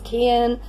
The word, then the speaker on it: Cian: Originally Cian, spelt with a C, but then I realized that would probably be read as Kian.